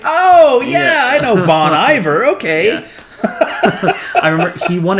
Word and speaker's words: Bon Iver: he was the winner they're like Bonnie Bear and everybody on Twitter was like who is Bonnie Bear everybody thought it was Bonnie Bear for the longest time but uh yeah Bonnie